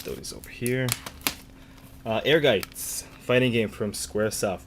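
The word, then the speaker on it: Ehrgeiz: when i was younger a lot of people had a hard time pronouncing the name they would say uh air gaze um ergaze but yeah right there playing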